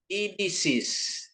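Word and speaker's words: ειδήσεις: Jadi epsilon ketemu Yota dia jadi i ya. Terus kata ketiga perhatiin ini i ya. Epsilon. Jadi tadi O ini juga kan jadi bacanya I. Idisis.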